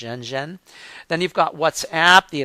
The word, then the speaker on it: Renren: You've got Caixin, which is the second one down, and then you have Zhenzhen, or it's spelled Renren, but it would be pronounced Zhenzhen.